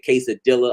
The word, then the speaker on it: quesadilla: the RS it's like when you hear somebody say quesadilla I'm like no an espanol two L's is a y sound but some of y'all